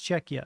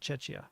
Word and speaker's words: Czechia: so it is it's it's czechia not chechia um that's something that in English can go either way it's usually cha though it's a cha sound but cool thank you